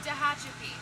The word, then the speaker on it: Tehachapi: How do you pronounce the town name? Oh, Tehachapi.